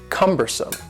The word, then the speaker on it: cumbersome: The next word is cumbersome. The word cumbersome has 3 syllables, and the stress is on the first syllable. Cumbersome. Cumbersome.